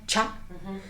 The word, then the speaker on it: Tscha: se llama ya sale se escribe tscha pero se pronuncia cha entonces Cuánto es chat estás diciendo te ese